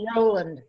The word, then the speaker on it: Roland: I think that's pronounced Roland.